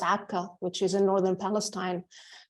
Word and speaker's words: Acre: from the E in Acre, pronounced Akka, which is in northern Palestine, to the K in Kirkuk, in English it's written Kirkuk, which is in Iraq.